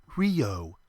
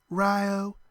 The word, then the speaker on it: Rio: her gun at him not Rio she said around here we say Rio you know to rhyme with Ohio the town itself was